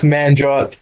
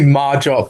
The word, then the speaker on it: Manjot: She couldn't pronounce Manjot. She told me Marjot for like the Manjot.